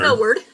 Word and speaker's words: Millward: Is that how you say it? Or Mildred? It's Millward. Millward.